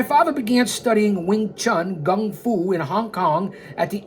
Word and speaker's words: gung fu: unheard of in Chinese kung fu, or as my father pronounced it in its native, Cantonese, gung fu.